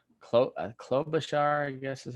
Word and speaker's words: Klobuchar: And from there, we had Biden, Elizabeth Warren, Pete Buttigieg, um, Amy Crying Face Lady, Klobuchar, how Klobuchar, I guess is how you say her name.